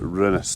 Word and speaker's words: Rinnes: And that's how he pronounced it, Rinnes not Rins like I've been saying.